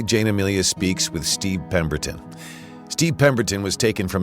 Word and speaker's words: Pemberton: Am I Am am I pronouncing your name correctly, Peton? You've got it just the way it sounds phonetically.